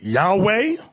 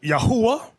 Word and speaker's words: Yahweh: Now, depending on your form of Hebrew, you have some people pronounce it Yahweh. Another group pronounce it Yahuwah. We were taught Yahweh.